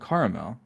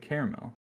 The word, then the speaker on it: caramel: How do you pronounce caramel? Okay, well, I just said. See, I just said caramel, but earlier I said caramel. I feel like I'm gonna choose that. I use both pronunciations interchangeably because I feel like I do.